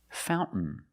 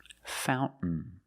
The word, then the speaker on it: fountain: Fountain. Fountain. You can say fountain or fountain. Both are fine.